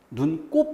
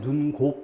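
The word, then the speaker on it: 눈곱: 해당되는 1호 5 자 눈 곱 발음을 어떻게 할까요 눈 꼽 이라고 하며 눈 곡 이렇게 바람은 안 하죠 배꼽은 어떨까요 눈꼽 은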